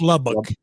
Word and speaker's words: Lubbock: to lubbock and um am i saying that right there i've been here for a long time is it it's lubbock i'm saying it right correct yeah it's lubbock you know people say lubbock it's not it's b o c k l you people